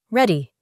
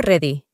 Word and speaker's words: ready: Pronuncian la R con la lengua en el paladar, como por ejemplo la palabra ready. No ready. Ready.